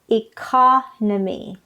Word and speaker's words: economy: third syllable economic but the noun part is economy the stress is on the second syllable economy all right next word